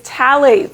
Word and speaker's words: phthalates: Okay, number four is phthalates. So the H is silent.